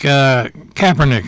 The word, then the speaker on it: Kaepernick: really kind of strange occurrence really I think Kaepernick I'm pronouncing that correctly right yes Colin Kaepernick Kaepernick